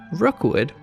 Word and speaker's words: Rockwood: One of these modest plots of land was named Rookwood, which is spelled like Rockwood, but St. Johners won't be very impressed if you don't pronounce it as Rookwood, and that's where the park's name came from.